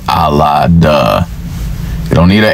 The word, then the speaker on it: Allah: you need is l and a to say Allah you don't need a h h is silent in most uh time most times when